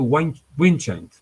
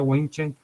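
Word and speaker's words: Windscheid: Fíjense que esta tesis fue formulada por un profesor alemán de apellido Winchendt. Los alemanes lo pronuncian de una manera más sofisticada, pero yo lo pronuncio como lo leo, ¿verdad?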